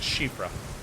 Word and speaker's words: Siofra: Because I know Siofra is actually pronounced Shifra.